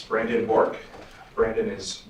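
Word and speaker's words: Bourque: State your name for the record and spell it. First and last name, please. It's Brandon Bork.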